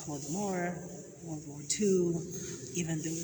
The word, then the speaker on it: Holodomor: How do you guys pronounce Holodomor? Holodomor.